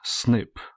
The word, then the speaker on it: SNP: In this video, I want to present to you something known as single nucleotide polymorphism, or SNP, pronounced snip.